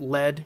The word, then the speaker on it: lead: I would recommend pronouncing it lead, because as you look at the other demon souls that are in this level, they seem to be associated with ores and alloys like lead, iron, silver, etc.